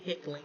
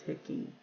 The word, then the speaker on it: Hecking: I usually pronounce it heckling, but it's Hecking.